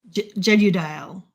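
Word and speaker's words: Jegudiel: Jedodile. Jedudile. It's J E G U D I E L Jedudile.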